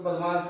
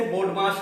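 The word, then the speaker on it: BODMAS: भाई बदमाश तो बदमाश है। तो ये वो वाला बदमाश नहीं है। अगर स्पेलिंग से आप देखें तो यहां पे वो बदमाश नहीं है। इसे बडमाश कहते हैं।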